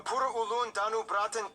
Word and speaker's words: Pura Ulun Danu Bratan: Okay, so the correct pronunciation is Pura Ulun Danubratan. That's how Indonesian pronounce it.